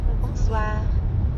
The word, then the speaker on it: bonsoir: Bonsoir.